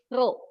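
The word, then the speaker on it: ρ: missnya langsung tulis aja ya ro gitu ya dibacanya R ro itu adalah massa jenis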